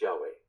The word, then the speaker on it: Yahweh: translation of godess proper name Hebrew you usually pronounced Yahweh 2on 12 or aromatic resin section 2on 18